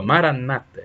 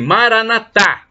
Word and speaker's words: maranata: e do aramaico temos a expressão maranata como dizem os protestantes com a tônica na penúltima sílaba maranata e os católicos dizem maranata com a tônica na última sílaba mas sem problemas o